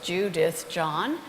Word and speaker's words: Judith John: tumor I understand that my name is pretty simple three syllables Judith John and it's the same